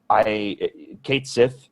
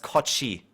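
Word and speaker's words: Cait Sith: Aside from that weirdness with Barrett, Kate Sith is an asshole as a character.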